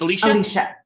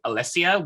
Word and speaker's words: Alecia: with me is it alessia or alicia it's alicia alicia alicia i like the spelling of your name by the way and in my head i've been pronouncing it alessia which just sounds like i've been watching too